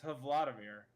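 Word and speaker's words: Hvaldimir: Combining the Norwegian word for whale, Haval, and the first name of Russian President Vladimir Putin. So it's Havladimir. I've been saying it wrong.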